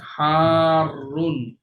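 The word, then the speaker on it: حارٌّ: নাম, ওকে, next হারুন হট। এখানে কিন্তু হায়ের পরে একালিফ টান হবে, আর পরে রয়ের মধ্যে আবার তাসদিদ আছে।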